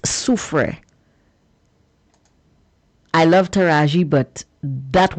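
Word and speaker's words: Soufrière: It's not sulfrey or sanre, it's su.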